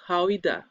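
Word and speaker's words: Gouda: It's pronounced Hoida.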